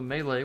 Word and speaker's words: melee: of damage available to melee weapon users. And yes, it is actually melee, not melee. I googled the pronunciation.